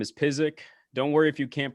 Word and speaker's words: Pysyk: open right up yeah some people think it's pronounced psychic except psychics because they